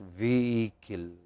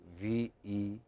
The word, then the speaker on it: vehicle: You don't pronounce H there. It's just vehicle. Vehicle.